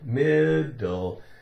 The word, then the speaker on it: middle: middle middle midle midle one D not mid not mid do it's actually difficult to make it sound like it has the sound made twice right but it can can be confusing it's confusing there's two letters one after two sounds so middle what does